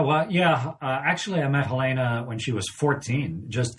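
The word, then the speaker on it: Helene: is her name yeah it's her dad's German so it's pronounced Helena Helena so you met her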